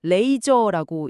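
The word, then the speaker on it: RAISR: RASIR, 레이저라고 읽나요? 네, 레이저.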